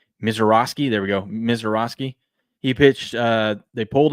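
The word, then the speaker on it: Misiorowski: Miseroski.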